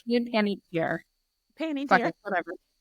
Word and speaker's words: Panettiere: Hayden Panettiere, right? Am I Yeah. saying it wrong? No, that's right. Hayden Panettiere.